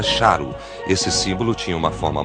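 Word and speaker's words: šarru: Também aqui supunha-se que a palavra repetida representasse rei, era pronunciada charu.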